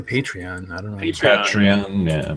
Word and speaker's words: Patreon: I say Patreon. I don't know. Patreon. Yeah, Patreon. I always, being Polish, I put the accent on the penult, so second to last syllable.